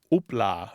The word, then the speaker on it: houpla: So I totally get that pronunciation difference now. So Martha, am I remembering correctly? This is related to the French houpla.